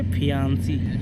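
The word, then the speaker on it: fiancée: तो उसे क्या बोलेंगे, फियांसी। फॉर एग्जाम्पल समझने के लिए, रवि की शादी रानी से हो जाती है तो रवि को रानी बोलेगी फियांसे, सिंगल ई के साथ, प्रोनाउंसिएशन में कोई अंतर नहीं है।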